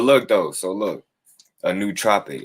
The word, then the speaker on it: nootropic: know whatever but look though so look a new tropic it's spelled n-o-o-t-r-o-p-i-c-u for me and i start getting